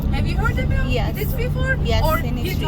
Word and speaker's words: Hittites: So the first civilization of Cappadocia were Hittites. Have you heard about Hittites before? Yes, or in history. Hittites, or Hittitians, or Hittitas, Hittichis. Lot of pronunciation about them. Let me say Hittite or Hittitians around 2000 BC.